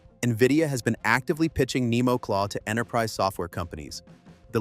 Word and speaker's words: NemoClaw: The platform is called Nemo Claw for pronunciation, Nemo Claw, and it sits on top of Nvidia's existing